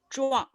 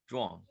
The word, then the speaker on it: Zhuang: Kong, we need the pronunciation of the third one. Zhuang. Zhuang.